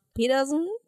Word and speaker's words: Pedersen: Zusammen mit dem Produzenten Chief 1, eigentlich Lars Pedersen. Ich habe das nicht norddeutsch ausgesprochen, das ist wirklich ein D.